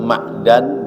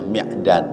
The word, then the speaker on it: Ma'dan: meriwayatkan hadis Imam Muslim dari sahabat Ma'dan bin Abi Thalhah. Ada yang membacanya Mi'dan radhiallahu anhu.